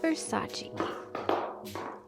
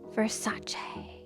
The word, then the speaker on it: Versace: a Versace or the correct pronunciation Versace now this box has